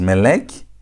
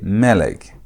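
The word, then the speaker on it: מֶלֶךְ: don't pronounce it as melek. You don't emphasize the last part of the word. You emphasize the first part of the word. So, instead of saying melek, you say melek.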